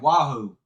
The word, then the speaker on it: Wahoo: So, it is I think that Wahoo is the proper pronunciation.